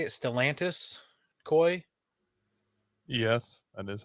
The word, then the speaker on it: Stellantis: Stellantis Koi?